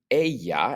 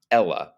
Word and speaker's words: ella: And so we use it to replace a female's name, and it's pronounced ella, not Ella, but ella. The double L in Spanish sounds like a Y, so make sure to pronounce it ella.